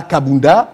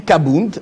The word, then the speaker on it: Kabund: Et dans leur dialecte, on ne dit pas Kabunda, on dit Kabound à Kabound.